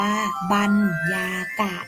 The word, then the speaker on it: บรรยากาศ: สำเร็จ ต่อ ไป ค่ะ บรรยากาศ ทั้ง นี้ อ่าน ว่า บรรยากาศ นะ คะ หมาย ถึง ความ รู้